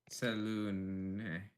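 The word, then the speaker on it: Selûne: the it says like it says right there pronounced and then there's a pronunciation guide like right beside the saloon okay so Saloon it's Saloon okay sure this way here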